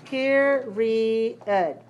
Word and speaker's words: period: Okay, so in the American Heritage Dictionary, this is how it looks. Period. Period. Period. And we have syllable stress 3-1.